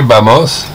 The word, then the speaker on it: vamos: Que vamos. Que vamos. V-A-M-O-S. Vamos, c'est avec un V. Oui. Le V se prononce B.